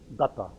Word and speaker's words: Datta: Datta. I say it again? Datta. So it's Datta, accent on the ta.